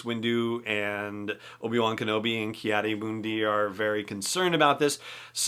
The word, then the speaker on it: Ki-Adi-Mundi: Ki-Adi-Mundi, which is, I believe, how Mace Windu pronounced it, thinks that Yoda may be susceptible